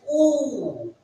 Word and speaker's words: U: This letter is pronounced as oo. This U is pronounced as oo. Oo.